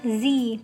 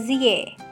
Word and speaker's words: Sie: Bacanya adalah Sie, bukan Sie.